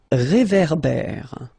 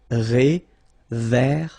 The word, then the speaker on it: réverbère: Final E not pronounced. Un ré. So here you've got this accent aigu et, and then here you've got this accent grave é. Okay, et é. So it goes like réverbère.